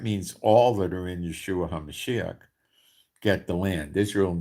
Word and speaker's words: Yeshua HaMashiach: Okay, so it's Yeshua HaMashiach.